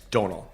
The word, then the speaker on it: Domhnall: It's Domhnall. Domhnall. Domhnall. Oh, Domhnall. Domhnall. I can't say that. You can say donate. So Donate Domhnall.